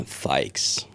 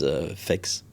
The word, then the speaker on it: Feix: And that's how you say it in French as well or we try to with my wife to say this is f but every everyone says fex but it's fik n I try